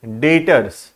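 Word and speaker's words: debtors: यहां B silent है बेटा। ठीक है, the word B is silent, the word is डेटर्स। ठीक है, तो इन व्यक्ति को क्या बोला जाता है?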